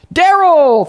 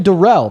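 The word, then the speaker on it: Darrell: Okay, Daryl, thank you so much for the $30 over on PayPal, my man. Appreciate you for the love. That's actually Derell.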